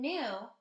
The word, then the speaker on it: knew: wanted new shoes in new k-n-e-w we don't pronounce the k it's silent number two nate does